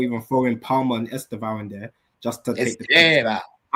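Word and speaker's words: Estêvão: Now say it properly, bro. Don't say Esteeb like that.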